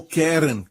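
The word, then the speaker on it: קֶרֶן: desta aqui Caron Caron a palavra Hebraica para ela é Karen ou querem é assim se pronuncia em hebraico querem se o seu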